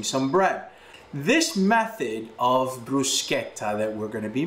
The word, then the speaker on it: bruschetta: toast some bread bruschetta the correct way to say it is bruschetta if you're saying bruschetta you're not saying it properly bruschetta comes from the